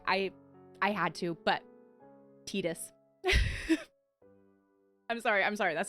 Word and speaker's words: Tidus: Um first off, one is that Tidus, I've been saying Tidus. I do believe from what I've heard that that tends to be a pretty North American or maybe Western pronunciation of the name, but that it actually is canonically pronounced Tidus.